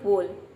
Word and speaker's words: bowl: बोल मतलब होता है कटोरा, कई लोग इसको प्रोनाउंस करते हैं बाउल, बाउल नहीं होता है, ये होता है बोल, BOWL बोल।